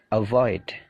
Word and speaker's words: avoid: ask avoid become begin jadi perhatikan stressingnya stressingnya punyanya come punyanya gain punyanya leave jadi stressingnya itu di suara yang kedua avoid become begin believe Blame